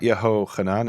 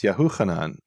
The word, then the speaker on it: Yahuchanan: Okay, so it's not Yehochanan, it's Yahuchanan.